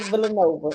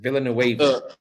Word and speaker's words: Villanueva: verse, and you're fighting Arthur Villanova. Is that how you say his name? Villanueva.